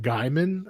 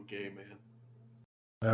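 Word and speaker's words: Gaiman: he's like directly involved can you say his name correctly please Neil gaming no no is it Gman are you trying to say it's Gman it's Neil gay man okay I thought that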